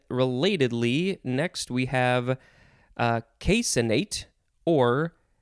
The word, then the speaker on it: caseinate: casein and then relatedly next we have a casinate or casinate you could emphasize the c which doesn't see i would much rather say caseinate uh so it is the word casein with